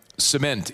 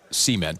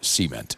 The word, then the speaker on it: cement: Um, cement is the the preferred pronunciation of the word, not cement. But in the south, we tend to say cement.